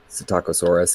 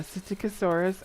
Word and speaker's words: Psittacosaurus: Psittacosaurus, yeah. Yeah, Psittacosaurus, and so everybody for short, instead of having, because it's a Latin word, so there's a silent P in it at the beginning and all this other stuff.